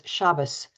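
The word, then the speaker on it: Shabbos: similar Manner and who pronounced the name of the Sabbath as shabas the more traditional pronunciation versus Shabbat the more modern pronunciation felt almost like being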